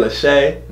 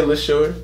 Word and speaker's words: Leshurr: People keep saying Leshay. Leshurr. You know what I'm saying? I looked up the pronunciation. Yeah. She say Leshurr.